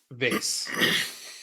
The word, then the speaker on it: vase: Dude, it should be just vase. Because, like, if it's CASE, you don't say cause, you say case.